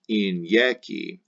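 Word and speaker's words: inieci: The third principal part, injeci, the first and the third I's are vowel I's, pronounced like E, injeci. The second I is consonant I, pronounced like Y, like a Y, injeci.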